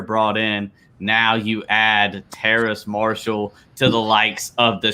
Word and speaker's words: Terrace Marshall: The Carolina Panthers select LSU wide receiver Terrence Marshall. Yeah, Terrace Marshall. Sorry, go which ahead. is I always pronounce it wrong because it I don't know, it's different. But Terrace Marshall is different himself.